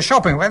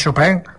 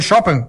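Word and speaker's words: Chopin: shopen Sì SH shopen Ah si dice shopen sai che noi diciamo sempre chopen e e poi invece si dice shopen Eh lei conosce shopen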